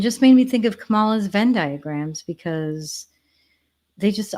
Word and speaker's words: Kamala: Trump's fault Kamala and I'm calling you Kamala because for all of those who are mispronouncing it I want you all to know how to say it there you go but